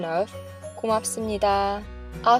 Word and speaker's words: 고맙습니다: common ways, which is Let’s first practice the pronunciation of 고맙습니다 (gomapseumnida.) I’ll say it 3 times. Now it’s your turn. Practice the phrase 3 times. 고맙습니다 (gomapseumnida) is a fantastic phrase to use when you are thanking someone.